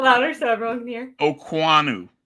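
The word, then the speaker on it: Okuayinonu: not how it's spelled but that's how it's pronounced okay say it a little louder so everyone can hear okanu U think of like Alexander okanu Sam okanu which is once again just literally not how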